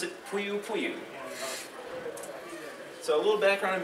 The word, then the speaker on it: Poiupoiu: I'm from Huntsville, I'm a geek, and I pronounce it Poiupoiu.